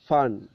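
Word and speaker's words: phone: ആണ് ഫോട്ടോ പക്ഷേ അതിൻറെ സൗണ്ട് സിംബൽ ഫ് ആണ് ഫൺ ഫൺ ഫോൺ ഫോൺ എഴുതൽ നമുക്കറിയാലോ പി എച്ച് ഒ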